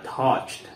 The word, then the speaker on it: touched: Entonces, y eso se pronuncia touched. Es un sonido como de T, prácticamente al final, S-E-D, que es suave, ¿sí?